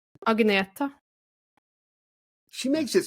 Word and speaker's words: Agnetha: See, I would have said Agnetha, but you said, say it again. Agneta.